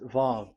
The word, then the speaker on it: Vav: VAV. So it's V as in Vogue. So it's really V. How to read Vogue? So the word, the shape Vav is really pronounced V, like Vogue.